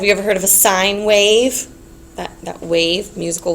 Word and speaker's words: sine: solve our problems so um this one is pronounced sign sign I know that we abbreviate s n but we do not call it sin we never call it sin that is sign